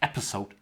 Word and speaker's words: episode: Oh, I've been told to watch my pronunciation of episode. It's like snake. It's not with a Z, with a Z.